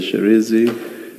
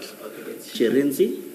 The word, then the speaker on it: Shirindzi: Sherenzi. Thank you. Can you please say it again so that we get it right? Sherenzi? Sherenzi. Sherenzi, Chairperson. Sherenzi. She, yes. Sherenzi. She, Re, and then Nzi.